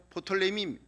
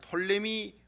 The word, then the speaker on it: 프톨레미: 프톨레미. 그리고 또 어떤 때는 퍼자를 묵음으로 해가지고 그냥 톨레미 왕조 이렇게 얘기하기도 합니다.